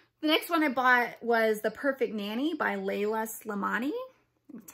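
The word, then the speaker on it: Leïla Slimani: The next one I bought was The Perfect Nanny by Layla Slimani. That's how you pronounce her name.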